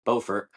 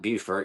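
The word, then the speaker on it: Beaufort: where I'm currently at in Bowfort, not Bert, even though it's spelled the same.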